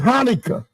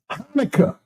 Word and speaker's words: Hanukkah: This word here, the CH is silent. Okay? You can pronounce it ka, but really it's silent, like in the word Hanukkah. Hanukkah.